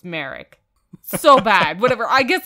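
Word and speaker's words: Mharyck: It's spelled M-H-A-R-Y-C-K. So it's Merrick? Merrick, Maverick, I don't know. There's no V. Okay, yeah, well then, it's Merrick.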